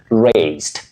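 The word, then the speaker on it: raced: You say raised. Raised. With a sound S, what we call the unvoiced sound S.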